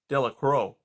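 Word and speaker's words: Delacroix: jones and dicky delicrow the villagers pronounced this name delicrow eventually made a great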